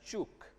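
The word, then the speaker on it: Ćuk: which is known as this is pronounced as chuk so this was this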